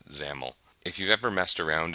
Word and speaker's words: XAML: new markup standard called xaml or they pronounce it zaml if you've ever messed